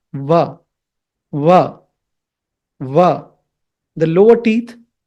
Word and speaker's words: व: When you have to say Va, that is Dantoshtya. Means it's a combination of teeth and lips. The lower teeth and the upper lips.